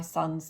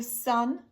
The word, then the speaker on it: son: My son my son's turning 12 today for example. So son and son they are pronounced exactly the same way. There's no difference.